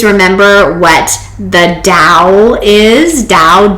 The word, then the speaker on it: dao: what the dow is dow d-a-o sometimes pronounced tau but it's dao with a d and also i was